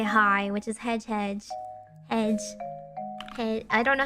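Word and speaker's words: hej: say hi, which is hedge. I don't know how to pronounce it. Hang on, let me check. Oh! You don't pronounce the J. Oh, you know what? Okay. Because J's in Swedish are Y's.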